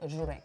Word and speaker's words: żurek: So this is called żurek. Żurek. Yeah, and it's spelt with a Z with a dot on top of it.